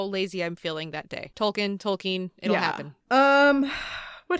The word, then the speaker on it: Tolkien: the earlier episodes that i know it's like technically tolkien and that's the correct way to say it but i say tolkien and and that's what that's